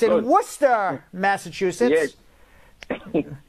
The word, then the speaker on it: Worcester: It's in Worcester, Massachusetts. Yes. It's spelled Worcester, but pronounced Worcester.